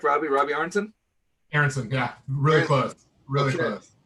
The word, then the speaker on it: Aronson: I'm pronouncing that right. Correct, Robbie? Robbie Aronson? Aronson, yeah.